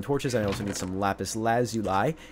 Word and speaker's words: lapis lazuli: I also need some lapis lazuli cuz that's how that's word's pronounced if you ever wondering how how uh how to pronounce lapis uh for some reason